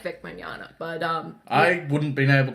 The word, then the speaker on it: Mignogna: Like I can never pronounce that. Mignogna.